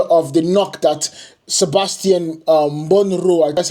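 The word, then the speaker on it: Bornauw: And then you have the doubtful nature of the knock that Sebastian Monroe, that's how you pronounce his name, picked up.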